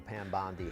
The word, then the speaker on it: Bondi: Now, we know that Attorney General Pam Bondi has spoken about the sheer number of videos, the manpower allocated. Her surname is spelled like Bondi in Sydney, but it's not pronounced Bondi, and that annoys me.